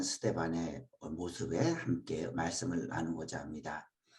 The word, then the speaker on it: 스데반: 오늘 우리 스데반 천사의 얼굴을 한 스데반의 모습에 함께 말씀을 나누고자 합니다. 스데반 우리식으로 발음하면 스데반으로 불렀고 헬라어로는 스테파노스입니다.